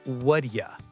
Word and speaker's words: what do you: In fast English, the T in what changes to a D sound, and you becomes ya. So it sounds like what ya.